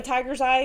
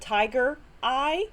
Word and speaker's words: tiger's eye: It's just kind of depends on your preference and uh the way I I I kind of say it like with the apostrophe in it because it looks like